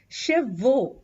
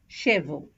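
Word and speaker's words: cheveux: salon for a haircut make sure you pronounce hair as shev and not as shevo the next ones are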